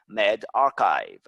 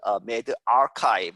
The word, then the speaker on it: medRxiv: 이 earlier 일찍 어디에서 on the 웹사이트 medRxiv 이렇게 읽습니다. RXIV를 archive라고 읽죠.